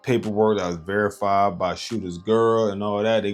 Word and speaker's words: Sh53ter: It's spelled Shooter, Sh53ter. Alright, it's not spelled regular.